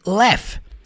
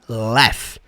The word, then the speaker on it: laugh: Então faça ela, make her, faça a hear, laugh. E sim, essa palavra aí que se escreve laug, você vai falar laugh.